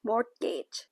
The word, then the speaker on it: mortgage: สัญญา จำนอง นะ คะ Mortgage ไม่ ออก เสียง T จำนอง การ ก่อ ให้